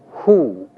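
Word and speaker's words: הוא: masculine singular form which translates either he or it is pronounced who note carefully please that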